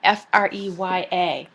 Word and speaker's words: Freya: associated with the goddess whose name is freya f-r-e-y-a and it's pronounced freya now freya is a nordic goddess